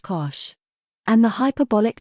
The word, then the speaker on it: cosh: shine or sometimes cinch the hyperbolic cosine function pronounced cosh and the hyperbolic tangent